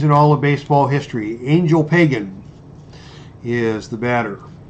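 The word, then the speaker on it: Ángel Pagán: all of baseball history, Angel Pagan, is the batter. He pronounces it Angel Pagan, but Angel Pagan is my preferred pronunciation.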